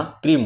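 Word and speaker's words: क्रीं: इस मंत्र में रिम नहीं बोलना रिंग बोलना है आइम नहीं बोलना आइंग बोलना है क्लीम नहीं बोलना क्लिंग बोलना है इस बात का ध्यान रखिएगा और उसके बाद क्रीम बीज में मैं ही उच्चारण करना क्रीम क्रंग नहीं बोलना क्रीम बोलना 11 माला का जब आप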